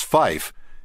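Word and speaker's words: five: Note that although the AIM specifies the pronunciation of the number 3 as tree and the number 5 as fife, in actual practice, ATC might pronounce 3 as 3 and 5 as 5.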